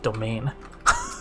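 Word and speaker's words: demesne: want to be late English has weird words how is d e m what is it n s e pronounced domain all right what's up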